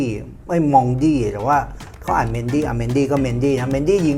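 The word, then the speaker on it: Mendy: ยัง ไง เพราะ ว่า ถ้า จะ ออก เสียง ว่า บอง ทะแมง เมนดี้ มัน ต้อง ออก เสียง มอง ดี นะ เนี่ย แต่ ไม่ เป็น ไร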